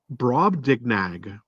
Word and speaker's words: Brobdingnag: but he goes to another land called, I'll do my best to pronounce this, Brob, Brobdingnag.